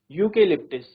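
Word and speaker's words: eucalyptus: तो आप देख सकते हैं इसका प्रोनाउंसिएशन क्या है? यूकेलिप्टिस।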